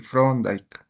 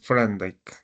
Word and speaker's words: Thorndike: Se pronuncia así, Thorndike. Poco difícil de pronunciar su apellido, ¿no? En español sería Thorndike, ¿no? Thorndike. Pero en inglés es Thorndike, ¿ya?